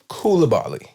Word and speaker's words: Koulibaly: I believe it's pronounced Koulibaly.